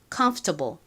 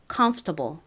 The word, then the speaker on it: comfortable: 편의를 위해서 쉽게 발음하려고 미국 사람들이이 or 발음을 그냥 빼고 comfortable comfortable 이렇게 발음을 하는 경우가 많습니다.이 이 F O 중에서 F만 바람 빠지는 소리로 살짝 발음을 하는 거죠.